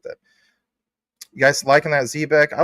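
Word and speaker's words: Zebec: Oh, Max says ZBEC. The dev team says, Zebek. You should say what the dev team says. Guess what? Aren't we all learning? Maybe the dev team is actually saying it wrong, according to pronunciation.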